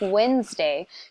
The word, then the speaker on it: Wednesday: day of the week Wednesday you don't hear that D the D is almost silent so that was a